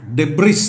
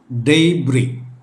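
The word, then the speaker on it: debris: അവശിഷ്ടങ്ങൾ ആയിട്ട് കാണുന്നവ അതാണ് അത് ഡെയ്ബ്രി എന്നാണ് ഡെബ്രിസ് അല്ല ഡെയ്ബ്രി എസ് യു ഐ ടി ഇ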